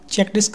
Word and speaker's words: CHKDSK: एक होता है CHKDSK, चेक डिस्क नाम का भी एक होता है। इसमें धोखा मत खा जाना, ये स्पेलिंग मिस्टेक्स हैं यहाँ पर, ऐसा नहीं होता।